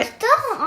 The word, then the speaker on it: Hector: Hector. Hector, oui, on l'entend pas, c'est un H muet. Mais Ouais, ouais. Hector, en fait, il a H pas muet, mais wow, on l'entend pas.